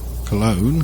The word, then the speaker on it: Cologne: So we're heading for Dusseldorf and Cologne, I think that is. In the UK we pronounce it Cologne. I think the German pronunciation is Köln, but I wouldn't bet my pronunciation's correct by any means.